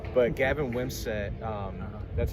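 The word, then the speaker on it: Wimsatt: For Rutgers, one player to watch is Weber's going to play quarterback, #1, but Gavin Wimsett, that's how you pronounce the name, correct? Wimsett, yeah.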